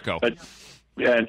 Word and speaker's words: Bierko: When I did the interviews, I said, Craig Bierko, I don't know how to pronounce his last name. I think that's yeah, right. Yeah, it's Bierko.